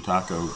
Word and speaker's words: Tako: How do you know it's not Tako and Baco? Because T-A in Japanese is pronounced Ta.